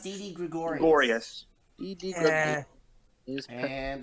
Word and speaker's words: Gregorius: pronounced Didi Gregorius.